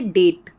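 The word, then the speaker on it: debt: कहां साइलेंट होता है टी से अगर पहले आ जाए टी से पहले अगर बी आ जाए तो भी बी साइलेंट होता है जैसे डेट ठीक है अब इसको हम डेप्ट नहीं पढ़ेंगे डाउट डाउट को हम डाउ बट नहीं पढ़ेंगे ठीक है सटल सटल को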